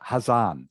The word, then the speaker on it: Hà Giang: Hazan, is it pronounced? Yeah, yes.